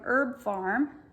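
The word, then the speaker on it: Herb Pharm: next would be from herb farm and farm is spelled p-h-a-r-m herb farm and that's called urinary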